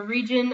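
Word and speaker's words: Rijon: Yeah, it takes place in the region of Region, which is spelled R-I-J-O-N, so it's the region of Region.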